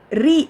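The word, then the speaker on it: ऋ: அடுத்து next letter வந்து ரீ அப்படின்னு ப்ரொனவுன்ஸ் பண்ணணும். நிறைய பேர் இக்ரூ சொல்லி தருவாங்க, க்ரீன்னு சொல்லி தருவாங்க. அதெல்லாம் கிடையாது. இந்த லெட்டரோட இப்போ எழுத போகிற லெட்டரோட சவுண்ட் வந்து ரீ.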